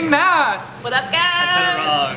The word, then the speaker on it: Maas: Maas! What up, guys? I said it wrong. Sarah J. Maas. I'm sorry. Wait, no, Maas. Maas. It's Maas. We can settle it now. It's Maas. It's Maas, like Massachusetts.